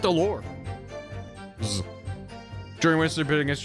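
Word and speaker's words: alors: You don't pronounce the S at the end of allure. Zoot allure.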